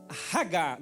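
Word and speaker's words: hagah: aqui um pouco hebraico meditar no hebraico é ragar diga ragar HG se escreve H a g a h Aí tu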